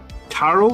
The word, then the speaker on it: tarot: It's the first T is hard. Tarot then?